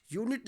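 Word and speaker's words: unit: यूनिट ले लीजिए, यूनिट की शुरुआत में भी आपका यू है, लेकिन उसको जब हम प्रोनाउंस करेंगे तो या से उसका पहला साउंड निकलेगा, ये भी कॉन्सोनेंट साउंड हुआ।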